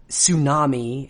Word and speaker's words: tsunami: beginning of the word unlike our American botched pronunciation of the word tsunami as like that where we just dropped a t that t is pronounced in English we don't